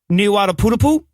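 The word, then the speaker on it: Niuatoputapu: I believe it is Niuataputapu.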